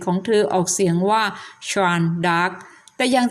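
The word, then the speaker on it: Jeanne d'Arc: และ ชื่อ ฝรั่งเศส ของ เธอ ออก เสียง ว่า ชน dar แต่ อย่าง ที่ ทราบ กัน ว่า ใน ปัจจุบัน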